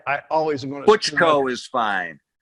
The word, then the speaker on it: Buchko: Buchko is fine. Buchko.